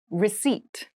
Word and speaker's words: receipt: Receipt. Receipt. Receipt. Receipt has a very interesting spelling. There is a P in the spelling of this word, but we do not pronounce it.